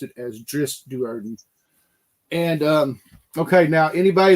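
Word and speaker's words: Drizzt Do'Urden: I've known that I thought his name was pronounced as drizzit and I saw an interview with Ari salvator he actually pronounced it as dris dardon and um okay now anybody that's familiar with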